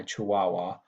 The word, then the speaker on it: Chihuahua: a little tricky, and I'm making the W sound with the H here in Chihuahua.